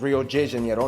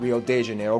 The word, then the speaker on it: Rio de Janeiro: It's pronounced Rio de Janeiro, not Rio de Janeiro. Get it right. We're not in Mexico. This is Portuguese.